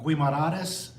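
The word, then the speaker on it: Guimarães: The next day, how do you pronounce all these things? All these things. Porto, uh Guimarades, uh Penafel, and Visu.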